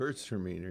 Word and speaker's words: Gewürztraminer: Gewürztraminer. It rhymes with girls are meaner, if that helps. Gewürztraminer. Yeah, that makes it a lot easier. Yep. So Gewürztraminer is a semi-dry.